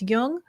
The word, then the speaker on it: Jung: jung on apple podcasts just be sure to pronounce jung with a hard j links to amazon's new